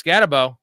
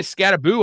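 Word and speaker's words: Skattebo: He has Scatabo. Scatabo. I heard him say Scataboo on the telecast. Did you guys hear that? Yeah, Scataboo. I don't know why they were doing that. That's not how it's pronounced.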